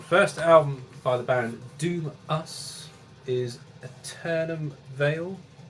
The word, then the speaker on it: Doom:VS: album by the band doom us is eternum veil now it's printed as doom vs but it's actually pronounced doom us which i only found